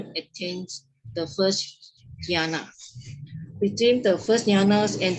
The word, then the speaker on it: jhana: The initial peripheral concentrations, the stage of approaching concentration of the first jhanas, can also develop wisdom.